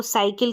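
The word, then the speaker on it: cycle: अगर मैंने बोला साइकिल तो साइकिल की स्पेलिंग ये होती है सी वाई सी एल ई तो सी के बाद में वाई आ रहा है ठीक है अगर सी के बाद में वाय आएगा तो स पढ़ेंगे सी के बाद में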